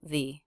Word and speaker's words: the: So when the next word begins with a vowel or diphthong, the letter E is pronounced with the E as in she vowel, the.